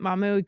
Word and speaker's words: Mahmoud: And as I was researching this stuff for today's show on Mahmoud, or uh, uh, yeah, that's how you say it, Mahmoud Khalil's deportation.